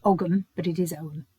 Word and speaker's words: ogham: The origins of the tree ogham, pronounced ogham, some people say ogham, but it is ogham. It's a silent g.